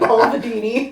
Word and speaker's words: Balvenie: You added a syllable. I did. Balvenie.